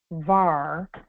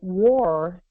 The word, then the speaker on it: wahr: War, and they pronounce it wahr, means truth.